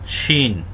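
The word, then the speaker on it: ش: মোটা হবে শিন শিন কেউ যদি বাংলার সাথে তুলনা করতে চান তাহলে তালব্য স এর মত উচ্চারণ হবে শিন শিন শিন শিন তারপরে যে হরফটি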